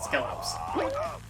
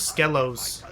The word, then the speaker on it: Skelos: And yes, it is pronounced Skelos, not Skelos.